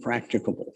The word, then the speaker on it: practicable: But the stormwater you do discharge has to be controlled to the maximum extent practicable. 4 syllables, practicable, meaning it's achievable with readily available means.